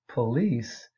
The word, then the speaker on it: police: For example, Standard English says police, but African American and Southern White Vernacular English puts the stress on the first syllable and it becomes police.